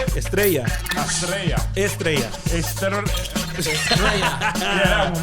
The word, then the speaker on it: Estrella: gotta roll your R's.